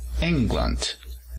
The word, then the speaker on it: England: Tenemos aquí a Inglaterra. Inglaterra, nos fijamos el acento en la primera sílaba. England.